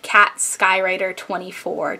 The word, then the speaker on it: katskywriter24: is my favorite number and it is actually pronounced cat skywriter 24 just to clear up any pronunciation issues Piper